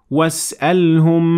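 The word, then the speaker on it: واسألهم: it is dropped like that, and it is pronounced as was'alhum 'anil qaryati allati.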